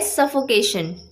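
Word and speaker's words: suffocation: अगला वर्ड है सफोकेशन, SUFFO, सफो, CATION, यानी कि केशन। सो करेक्ट प्रोनाउंसिएशन इसकी होती है सफोकेशन।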